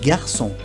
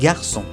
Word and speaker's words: garçon: Por ejemplo, en francés, un garçon, un varón. Un garçon. Aquí vemos que la G está delante de la A. Un garçon. Así que se pronuncia G.